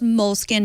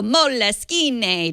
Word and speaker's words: Moleskine: The ones we used to call Moleskine to feel Italian and smarter than everyone else before we realized they were, in fact, pronounced moleskin, like the rodent.